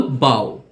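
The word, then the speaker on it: bough: যেগুলোকে সাইলেন্ট শব্দ হিসেবে বিবেচনা করা হয়, যেগুলোতে জিএইচ উচ্চারিত হয় না। এক্সাম্পল, বাও, বাও অর্থ গাছের ডাল।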